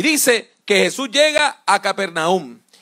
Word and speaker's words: Capernaúm: galilea que se llamaba capernaúm también se puede pronunciar como cafarnaúm y usted puede ir